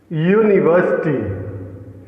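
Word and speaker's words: university: फिर देखिए, यूनिवर्सिटी, यूनिवर्सिटी कैसे, कौन सा फर्स्ट लेटर आएगा इसमें? या आएगा। आ रहा है ना, जब हम लिखेंगे हिंदी में यूनिवर्सिटी को तो पहला लेटर आएगा या का से ज्ञा के बीच का एक अक्षर है जो कॉन्सोनेंट साउंड देता है।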